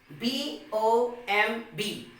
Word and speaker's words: bomb: per the rule that if the letter b comes after the letter m then the letter b becomes silent so b o m